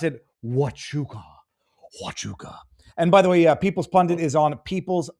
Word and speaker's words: Huachuca: Leverett says, you pronounce it Huachuca.